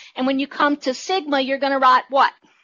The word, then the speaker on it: sigma: pronounced the Greek letter sigma. S-I-G-M-A, and I probably, no, I didn't type that. Sigma, S-I-G-M-A is how you pronounce it.